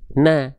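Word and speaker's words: نَ: Maka di sini enggak dibaca nun, tapi kita baca menjadi na. Ngikutin si harakatnya. Gimana bacanya? Na. Jelas sampai sini insyaallah ya. Dibacanya na. Tidak nu, tidak ni, tidak nun.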